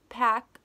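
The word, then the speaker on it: Paak: that extra gold Anderson PAC I always say POC I think it's pronounced packs though he released Oxnard this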